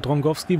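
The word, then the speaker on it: Drągowski: sie aber das auch dragowski oder drowski wie mir gesagt wurde irgendwie SAS ich weiß nicht ob das auch stumm ist aber drongowski wurde mir geschrieben wird ausgesprochen da glaube ich euch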